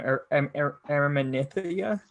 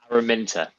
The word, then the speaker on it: Araminta: the short, sorry, well, how do you say the taxidermist's name? Araminthia? Araminta. Okay, so like Araminta.